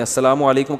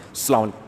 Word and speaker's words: السلام علیکم: میرے بھائی کا السلام علیکم اور صلی اللہ علیہ وسلم کا صحیح تلفظ بتا دیں. السلام علیکم کا ہے السلام علیکم, جو آج کل لوگوں نے ساشے پیش کر رہے ہیں سلام, السلام علیکم, ایسے سلام ہو رہا ہے, السلام علیکم.